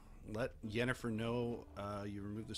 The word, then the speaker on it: Yennefer: gamer for this uh he heard yenifer and he goes don't you mean Jennifer and they were like the guy was like no yennefer he's like no Jennifer that's her name Jennifer die meridium new word